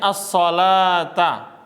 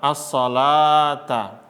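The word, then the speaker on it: الصلاة: As-shalah itu lamnya fathah biasa, lalu di wawu ini kasih apa? Alif kecil, bukan fathah berdiri dia, tapi alif kecil. Bacanya as-sholata.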